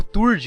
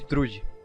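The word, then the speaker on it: Thrúd: Ela só tem um problema com as pronúncias de alguns nomes, tipo falarem Angrboda ao invés de Angerboda, ou Turd ao invés de Trude.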